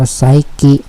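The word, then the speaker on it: psyche: ออก เป็น 2 คำ คำ แรก มัน อ่าน ว่า ไซกิ P hy C H E มัน ไม่ น่า อ่าน ว่า ไซกิ ได้ หรอก แต่ ว่า มัน อ่าน ว่า ไซกิ อ ำ เนี่ มัน แปล ว่า วิญญาณ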